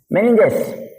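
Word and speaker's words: meninges: अगर cranium bone से अंदर चोट चला गया, यानी मेनिनजॉइड्स नाम की, मेनिन से बोलते हैं उसको, मेनिन, मैं स्पेलिंग भी लिख दे रहा हूं, मेनिंजेस।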